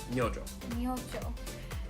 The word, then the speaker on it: Myojo: so uh but actually you do pronounce this j it's myojo and i've seen a